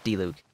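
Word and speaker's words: Diluc: heck his name is d luke is how it's said by time on in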